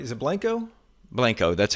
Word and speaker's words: Blanco: Is it Blanco?